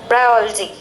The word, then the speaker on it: ब्रायोलॉजी: आप लोग लॉजी पढ़ते हैं, लेकिन लॉजी सही प्रोनाउंसिएशन नहीं है, आपको ऑलजी पढ़ा जाता है, ब्रायोलॉजी है ना।